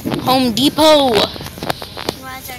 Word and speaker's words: Depot: Mommy, what is the Home Depot? Home Depot! Why is our T? Because the T is silent.